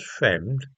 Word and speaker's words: Frembd: In August 1914, Charles Frembd, and that's a very odd name, it's spelled Frembd, and his wife Louisa were living together at 44 Harrow Road in Leytonstone.